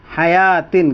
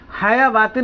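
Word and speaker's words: حيوة: silent, हयातिन, क्या लिखा, हयातिन, हयावातिन नहीं पढ़ेंगे, हयावातिन तो कब पढ़ेंगे,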